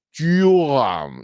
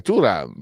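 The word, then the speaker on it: Thuram: capito perché per tutti tutti è diventato turam tuam No è turam per quello che che risulta poi posso sbagliare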